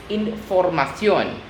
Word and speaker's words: información: So we just need to change it in CION with an accent on the O.